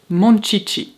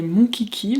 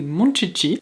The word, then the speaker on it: Monchichi: trucs préférés au Japon, ce sont les manchichi parce que eux, ils prononcent ça comme ça. Moi quand j'étais petite, je disais mon kiki mais apparemment c'est vraiment des monchichi.